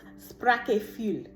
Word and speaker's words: Sprachgefühl: I got a lot of Germany energy, Slovakia, because the word that they showed me was a German word called it's pronounced Sprachgefühl.